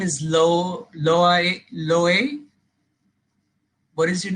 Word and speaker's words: Loay: Yes, Loay loay loay.